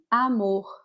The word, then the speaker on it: amor: This M is an exception. It doesn't nasalize the first A. we'll say amor, amor. Although some regions in Brazil will do pronounce it like this, amor, amor.